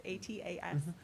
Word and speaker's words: ATAS: heard from the rep, but ATAS, I believe is how it's said, it's ATAS. It's aluminum, product that can have a faux wood print on it.